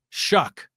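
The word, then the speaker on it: Shough: Um I think the Tyler Sh is it Shuck? Is that how you say it? is a kind of is it s o u g h s h o u g h oh but it's called shuck shuck y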